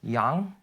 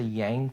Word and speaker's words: Yang: Um, it's actually pronounced Yang. So in Korean it's Yang, but like I just say Yang for just people spelling purposes.